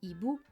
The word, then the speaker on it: hibou: qui vient avant car le H bloque la liaison et les lision par exemple avec le mot hibou vous entendrez toujours hibou ce hibou le hibou les hibou vous voyez la prononciation est toujours identique quels sont donc les